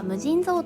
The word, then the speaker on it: 無尽蔵: 掛け軸の言葉は無尽蔵と読みます。